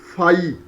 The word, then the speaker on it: phi: Okay, this table has been used as a helping tool because work function, which is this phi.